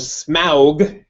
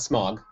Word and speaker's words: Smaug: watching the desolation of smow not smog not smog smog you have to pronounce correctly and I'm thinking to